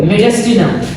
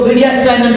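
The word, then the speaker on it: mediastinum: This is called मेडिस्टिनम। इसको मीडियास्टाइनम भी कहते हैं, मेडिस्टिनम भी बोलते हैं।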